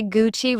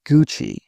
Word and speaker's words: Gucci: I've heard people say Gucci with stress on the chi. Italians say Gucci.